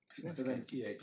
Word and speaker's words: Pisaneschi: I thought it was Italian, but Pisaneschi is the hard C.